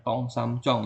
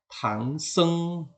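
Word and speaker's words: 唐僧: tangseng tangseng ini adalah kalau di Indonesia orang bilangnya tong sam conong orang bilangnya begitu ya walaupun katanya engak lucu ya walaupun katanya salah ya tapi dianggap benar ya tong sam Chong yang betul adalah tangseng tangseng ya Nah tangseng ini seorang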